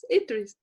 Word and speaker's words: Idries: She will pronounce it correctly for me. And it's fine. Idries.